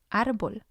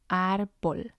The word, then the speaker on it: árbol: The second example is árbol. Árbol. It means tree. And again, we have 2 syllables. And we see the accent on the second one as listed on the screen. So that's the one that's going to have the stress. Árbol. Árbol. Otherwise, it would have been as árbol, árbol. And again, that doesn't sound right.